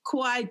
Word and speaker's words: kawaii: And it's these little, I think kawaii, it means cute. Kawaii, yes, it means cute. How do you pronounce it?